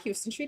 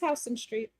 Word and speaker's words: Houston Street: And it's not Houston Street, it's Houston Street.